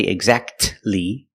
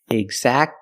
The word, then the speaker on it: exactly: it you don't say exactly exactly don't pronounce a T exactly you go from the C Sound to the L Sound exactly exactly or the